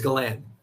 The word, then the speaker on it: Galan: last name like that, I've had so many different like pronunciations of it. I've had Galan, Galan, Galen. What I don't even know other ones. Somebody really butchered it. I totally forgot, but it's Galan.